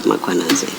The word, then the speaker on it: Mkhwanazi: There is no A right at the beginning of that first syllable. The A is after the H, so it's Mkhwanazi, not Mkhwanazi.